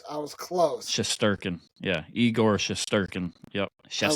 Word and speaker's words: Shesterkin: was close I was close shurin yeah eigor shesterkin yep I like eigor eigor he's not King